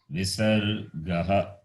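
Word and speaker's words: visargaḥ: It is pronounced as Visargaha.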